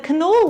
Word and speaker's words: Knolle: this cheese it's belper the k is not silent the canola word is almost like how we pronounce canola as in canola oil